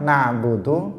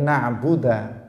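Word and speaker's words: نعبد: Jadi yang dhammah na'budu menjadi na'buda. Itu tidak merubah makna, tetap artinya kami beribadah. Atau mengkasrah nunnya ni'budu, dia mengatakan iyyaka ni'budu.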